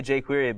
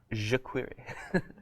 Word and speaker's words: jQuery: Did you know that it's pronounced that way? A lot of people say jQuery, but it's jQuery.